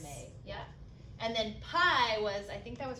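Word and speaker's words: pai: we have may or i think it was pronounced mai it looks like may yeah and then pie was i think that was her dad yeah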